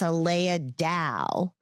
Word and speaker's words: Aleya Dao: energetic Empower Ranger report, Aleya Dao, which, no, I am like hyper pronouncing. It's Dao. It's Aleya Dao.